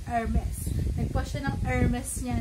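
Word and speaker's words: Hermès: Ganun yung pronunciation, hindi wala yung H, Hermes.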